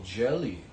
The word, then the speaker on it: Gehlee: so much hate in the first place oh jelly okay I mispronounced it jelly okay why should we be